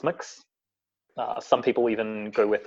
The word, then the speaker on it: Mx: really yet exists or MX it was a very popular near pronoun pronounced mix some people even go